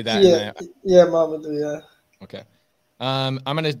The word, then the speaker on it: Mamadou: Now, is it pronounced Mamadou or do I just say that? Yeah, Mamadou, yeah.